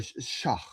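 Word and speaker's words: Shough: It's pronounced Shu. Tyler Schauf, like tough.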